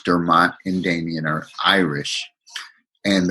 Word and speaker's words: Dermot: got the story but all my life I've been called and I pronounce it Dermott now that I'm in